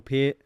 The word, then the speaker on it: Peart: We always say Neil Peart. It's Neil Peart. That's what I've heard, yeah.